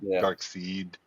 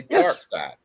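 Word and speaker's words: Darkseid: But if you watch the Justice League animated series, how do they say his name? Glenn animated series. How do they say his name? They say dark side.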